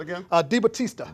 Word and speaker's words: DiBattista: Debo is what How we you call pronounce him. that again? DiBattista. DiBattista.